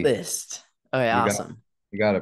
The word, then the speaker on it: Liszt: God it's Mr litz I got that right right is it litz uh list you don't pronounce the Z list okay awesome you got